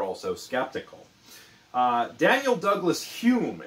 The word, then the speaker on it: Home: skeptical uh daniel douglas hume it's pretty it's it's spelled home but pronounced like david hume the philosopher was a medium who